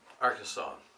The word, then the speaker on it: Arkansas: part of the world it's not the Arkansas River it's the AR Kansas